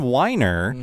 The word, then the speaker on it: Weiner: And the writer of this episode is Ron Weiner. Not Wiener. Not Wiener.